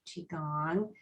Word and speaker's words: qi gong: it is um i i typically will spell it q i space gong g-o-n-g but um sometimes the chi part is spelled c-h-i and then there is